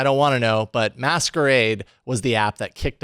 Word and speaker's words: msqrd: that sort of way an app called msqrd but meant to be pronounced as masquerade is here to creep